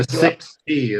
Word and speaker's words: Sixt: The 6T is how it's pronounced, but yeah, they've got shuttles at McCarran.